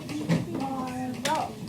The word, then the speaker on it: marvelous: Divide it between the two consonants and put an accent mark where? Marvelous. Marvelous. Marvelous. What's accented? The first syllable.